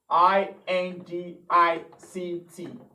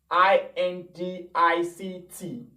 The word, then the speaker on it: indict: word for the week is spelt sorry please i n d i c t how will you pronounce i n d i c t how do you pronounce okay that word is